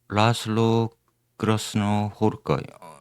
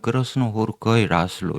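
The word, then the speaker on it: Krasznahorkai László: 아, 오늘은 지난주에 라슬로 그렇노 호르거이 어 정확하게는 그렇노 호르거이 라슬로 이렇게 읽어야 됩니다. 왜냐면 그렇는 호르거이가 성이어서 어 헝가리인들은 성을 우리처럼 맨납했습니다.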